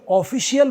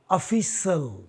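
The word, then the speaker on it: official: आने से पहले ये ऑफिशियल बोलते हैं हम लोग हम लोग इंक्लूडिंग मी यह गलत है ऑफिशियल नहीं होगा दोस्तों यह होगा ऑफिशल ऑफिशल इसका उच्चारण अगर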